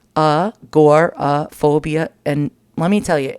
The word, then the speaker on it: agoraphobia: see here you go it's pronounced uh gor phobia and let me tell